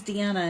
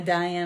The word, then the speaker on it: Dianna: thank you thank you my name's Dianna and you know a lot of times people pronounce it Dena Diane all that kind of stuff so I'm always striving